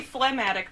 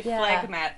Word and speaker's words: phlegmatic: it again so it's you'd think it'd be phlegmatic but it's actually flag matte phlegmatic but it is you'll notice the word phlegm is in there so a lot